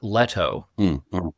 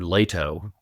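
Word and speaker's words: Leto: in "Dune: Part Two," I noticed they were talking about Duke "Leh-to." And I've always been "Lay-to" in my head, and I… Frank was "Lay-to" as well. We all referred to him as Duke "Lay-to" instead of "Leh-to," but now it's in the movies as "Leh-to."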